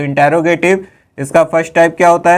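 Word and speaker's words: interrogative: इंट्रोगेटिव मत पढ़िएगा, इंटेरोगेटिव होता है इसका क्या रियल प्रोनाउंसिएशन, क्योंकि अगर आप इंटेरोगेटिव पढ़ेंगे तो वही लिख भी देंगे, है ना। तो ये इंटेरोगेटिव होता है, इंट्रोगेटिव नहीं होता है।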